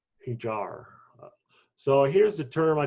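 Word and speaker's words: Híjar: Usually the J is silent or H sound, but I don't. Hijar.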